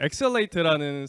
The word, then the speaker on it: XL8: 제가 설명을 다시 드리면 저 회사 이름이 엑셀레이트고요. 그 뜻이 어떻게 되냐면 X를 보통 이제 크로스라고 읽기도 하는데 트랜스라고 읽기도 해요. 그래서 트랜스라고 읽으시면 트랜슬레이트가 됩니다.